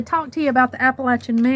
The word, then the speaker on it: Appalachian: Heritage that I have I always say appalachin because that's the correct way to say it that's where we were raised and appalachin the word appalachin comes